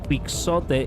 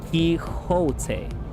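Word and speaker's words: Quixote: By the way, Pixote is pronounced Kote. Okay. Kiote.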